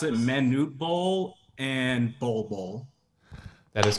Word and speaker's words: Manute Bol: past season Charles who are I think you pronounce it Manute Bol and ball Bowl that is correct pronunciation was